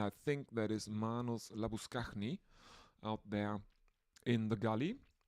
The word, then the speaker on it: Labuschagne: He insists that his name isn't Manos Labuschagne, but Labuskachny. He gets electrocuted for saying that his name isn't Labuschagne, and he has to clarify that it's Labuskachny, but no other Australian can pronounce that.